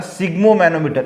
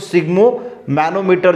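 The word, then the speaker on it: sphygmomanometer: और एक दूसरा जो डॉक्टर के पास होती है उसको बोला जाता है सिग्मो मैनोमीटर। इसका प्रोनाउंसिएशन बढ़िया याद रखना, सिग्मो, थोड़ा सा प्रोनाउंसिएशन में आपको दिक्कत आ सकती है, तो सिग्मो मैनोमीटर जो है वो इसको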